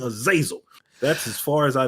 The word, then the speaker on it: Azazel: comments for not saying Azazel that's as far as I know uh they can say as Azle but it's technically azazo I mean people kill